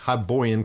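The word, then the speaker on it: Hyborian: On the Misfits Tabletop Facebook group, Adam said, "You said Hiboyan correctly."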